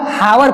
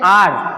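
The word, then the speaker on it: hour: एन हावर, कुछ बच्चे इसको हावर पढ़ते हैं, हावर मतलब क्या होता है, घंटा, लेकिन हावर मतलब घंटा नहीं, इसको पढ़ते हैं आर, 1 आर, ठीक है। इसको पढ़ते हैं एन आर, इसको पढ़ेंगे एन आर।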